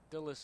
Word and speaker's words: Dulles: Dulles is how you pronounce it.